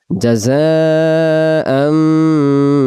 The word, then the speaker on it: جزاء: তাহলে প্রথমটা জিম অক্ষর জিহ্বার মাঝখান থেকে শক্ত করে পড়বো, আর জা অক্ষর ঝির ঝির আওয়াজ আসবে এরকম জা, জাযা, জাযাআম বিমা কানু ইয়া'মালুন, ইয়া'মালুন, ইয়া'মালুন।